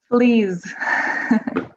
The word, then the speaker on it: fleas: Fleas. So it's the same. No, the plural of flea is like a z sound.